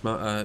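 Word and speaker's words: Majula: The Hub would count as Dark Souls 2 Mula is that how you say it yeah Mula yeah yeah it's exactly that and I know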